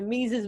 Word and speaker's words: Mesus: SuperDuper talented you know his name rhymes with Jesus but it's not so make some noise for our boy mises means to say what's